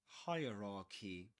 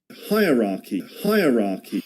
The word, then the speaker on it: hierarchy: Hierarchy. Hierarchy. 3 parts which rhyme with higher, ra, key.